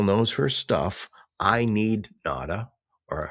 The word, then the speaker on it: Nauta: I need Nauta," or how do you say it? Yeah, Nauta, not as perfect.